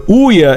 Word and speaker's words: Ouya: It's pronounced like Booyah without the B. The Ouya is not meant to be a competitor with the current generation of consoles.